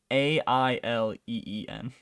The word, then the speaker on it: Aileen: David Johnson, Archie Renox, Spike Fern, and Alien, I'm assuming, but it's spelled Alien. It's Aileen, so it's just so close to Alien.